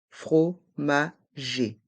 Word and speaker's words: fromager: le D est mué dans le mot fromager les dernières lettres e et R font le son e fromagé un marchand de fromage